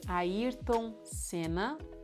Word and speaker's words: Ayrton Senna: Ayrton Senna.